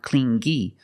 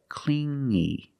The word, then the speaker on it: clingy: You hear the sound only the nasal sound here, no G, not clingy, but clingy, clingy.